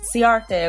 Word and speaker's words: Ciarte: It's Ciarte according to you guys, so thank you.